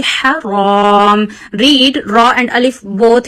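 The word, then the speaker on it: حرام: So Haram ha is pronounced from the middle of your throat. So read it very softly. Haram.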